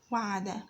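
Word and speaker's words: وَعَدَ: The first letter is waw, pronounced as wa, with a fatha over it. The second letter ayn is pronounced as a, and pronounced is pronounced as a. The third letter is dal, pronounced as da. Wa, a, da. Wa, a, da.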